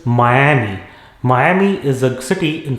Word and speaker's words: Miami: of the us next it is not miami it is miami miami is a city